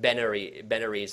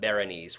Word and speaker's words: Berenice: Like Benares and not Berenice, which is the real.